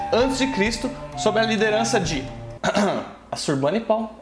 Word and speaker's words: Assurbanipal: 668 a 627 a.C., sob a liderança de Assurbanipal, é assim que se pronuncia, o Império Assírio atinge sua maior extensão.